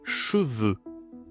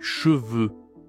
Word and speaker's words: cheveux: Pluriel, les cheveux. Alors ici, même prononciation que les yeux. E. Le cheveu. Les cheveux.